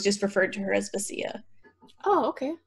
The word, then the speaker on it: Vasya: referred to her as Vasya. Oh, okay. Because Y's are supposed to be like an E. And I was saying Vasya in my head. Vasya.